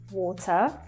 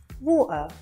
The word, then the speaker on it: water: So just to explain it a little bit further, the glottal T is used when the T comes in the middle of a word or at the end of a word, never at the start.